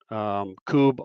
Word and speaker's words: Kubb: They're all over, and you really pretty much you just need to search Coob on social media, and you're going to find something.